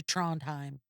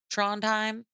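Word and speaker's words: Trondheim: And Nelson says that they were in international waters on their way to Tronheim. What? Tronheim. You want me to spell it for you?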